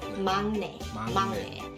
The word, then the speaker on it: 막내: And I know it is written as 막내, but you pronounce it as 막내.